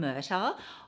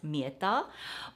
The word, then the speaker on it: Mirta: actually got this from murta or I think in Italian pronunciation it should be pronounced mirta but I love this